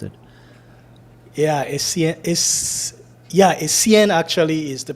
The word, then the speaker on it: Essien: That's how I would have pronounced it. Yeah, Essien actually is the pronunciation.